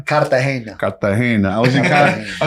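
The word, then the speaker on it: Cartagena: How do you say it, John? Kartahena.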